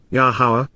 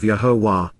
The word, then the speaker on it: Yahowah: a special relationship with, Yahowah, Yahowah, the proper pronunciation of Yahovah, our Eloah, God as